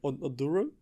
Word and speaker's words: Oduro: just in case we don't know how to pronounce it aduro yeah see I don't know how to tell